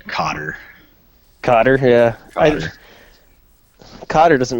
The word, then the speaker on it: Qatar: I think they pronounce it Cotter.